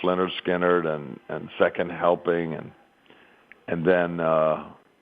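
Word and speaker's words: Lynyrd Skynyrd: I mean, at that time, Leonard Skinner was just becoming a huge band, pronounced Leonard Skinner and Second Helping, and then Marshall Tucker was just coming up.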